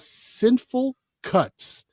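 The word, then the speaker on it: Cineful Cuts: It's a podcast called Sinful Cuts, and it's spelled CINE -FUL Cuts. And it's a horror movie podcast hosted by Sean and Shannon, and it is hilarious.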